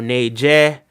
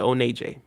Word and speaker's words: Oneje: So you had some people, they pronounce it Oneje or Neje, Onaja. But me, I just pronounce it Oneje.